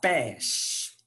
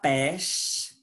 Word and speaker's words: pêche: Ça aidera à la prononciation du E ouvert. Et pêche, c'est comme pastèque.